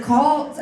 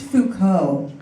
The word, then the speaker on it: Foucault: Judith Butler I once tried the reference for kalt at a party to make myself sound smart and my friend politely corrected me and said it's pronounced Foucault the only reason I'm